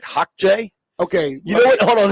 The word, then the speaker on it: Xhekaj: I think that's pronounced like Hawkjay.